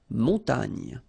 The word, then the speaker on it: montagne: So remember here, O, N, on, mon, ta, and then this G, N, E, nye, nye. Montagne.